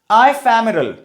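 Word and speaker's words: ephemeral: लिखा जरूर ई से है, प्रोनाउंसिएशन आई से करना है। आइफेमेरल, आइफेमेरल का मतलब होता है क्षणिक भर, बहुत छोटे समय के लिए, बहुत कम समय के लिए।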